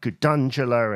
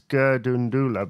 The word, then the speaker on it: Gundula: know like I said it's been mispronounced to me as like gangula and gandula or whatever and it's like but it's gundula because of the uh because of the story behind it that's kind of